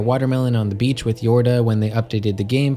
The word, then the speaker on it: Yorda: funny that they spelled yorta's name as jorda like i guess they thought people would pronounce it like a scandinavian j and assume it's said